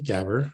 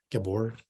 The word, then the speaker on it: Gabor: And this one guy reached out to me, Gabber. I say his name wrong all the time. Gabor.